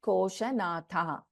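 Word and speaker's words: कोशनाथा: So we will not be chanting the Visarga here. The pronunciation will be Rajya Lakshmi Koshanatha. Rajya Lakshmi Koshanatha. It will not be the complete Visarga in this case.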